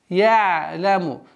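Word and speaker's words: يعلم: Я-ляму. Вот здесь, обращайте внимание, я-ляму. Вот одна из самых таких грубых распространенных ошибок, это резкое остановление на гортанном звуке айн. Я-ляму. Она должна быть такой мягкой, скользящей остановкой.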